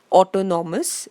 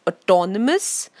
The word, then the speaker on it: autonomous: Please notice the pronunciation. Don't say autonomous, it's autonomous, autocrat, and autobiography.